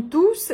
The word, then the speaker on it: tous: Дальше я вам ставлю видеопримеры как раз на второй случай, когда туз является местоимением и мы произносим крайнюю s. Ils ont tous leur iPhone, leur PC, leurs réseaux sociaux.